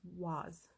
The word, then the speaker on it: vase: American English is vase, British English is was.